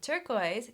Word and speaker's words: turquoise: Turquoise, count up those vowels. There are 5 vowel letters. But listen, turquoise. Turquoise, only 2 syllables. Yeah. Because there's only 2 vowel sounds, oi.